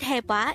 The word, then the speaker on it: 해봐: this is pronounced as a two-syllable word the first syllable is hey second syllable is pronounce it with me the word hepa is used to say